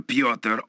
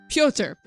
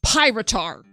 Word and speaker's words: Pyotr: backgrounds, had no idea how to pronounce Pyotr, and I thought his name was Pyrotar, which is an amazing name, but it's not right.